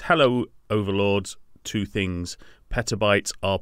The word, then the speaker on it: petabytes: of this is that Jen mentioned petrol bytes and because I'm so dumb I didn't correct her I thought I know it's petabytes or petabytes like I